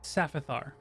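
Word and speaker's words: Syphaphar: I don't know how to pronounce that. It's Saphithar.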